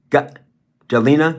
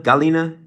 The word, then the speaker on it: Galina: How do you pronounce your name? Galina. Galina. Yes.